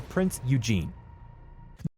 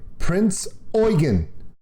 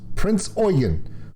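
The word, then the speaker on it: Prinz Eugen: now recognized as japan's worst naval disaster the prince eugene did you hear that wait i'll play it again the prince eugene okay they spell it prince e-u-g-e-n it's okay prince oygan prince oygan that's how it's pronounced prince oyen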